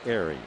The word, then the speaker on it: Ehire: Ehire, pronounced Airy.